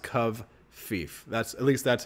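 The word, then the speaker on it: covfefe: cief it's it by the way it is pronounced CUV fief just so you know the president posted yesterday about his haters and then he posted cief CV F Fe and it's pronounced KV fief that's at least that's how it was pronounced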